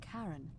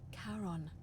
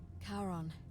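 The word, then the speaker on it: Charon: it's just as you described it only your pronunciation is a little off the name you heard wasn't karen it was c h r o n as in caron the ferryman of the dead karon who in exchange for the right coin helps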